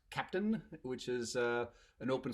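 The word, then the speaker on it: Keptn: just kind of see my t-shirt this is pronounced captain which is a an open source project that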